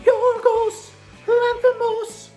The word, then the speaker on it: Yorgos Lanthimos: Of course, this is the latest from Yorgos Lanthimos, which is how you have to say his name.